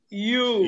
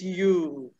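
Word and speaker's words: ewe: okay the pronunciation is you and this pronunciation is exactly the same as another word spelled as y o u u the first you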